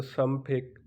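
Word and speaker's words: 삼백: ऐसे 300 होगा तो सम फेक, 400 होगा तो सा फेक, 500 होगा तो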